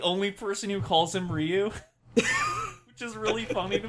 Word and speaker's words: Ryu: note throughout this movie they pronounce it as rayu I don't want to do that that sounds that's bad I hate it uh I'm calling him Ryu they they do call